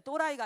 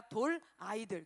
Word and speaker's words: 돌아이들: 이게 또라이는 아니에요. 발음을 잘 해주셔야 돼요. 또라이가 아니라 돌아이들.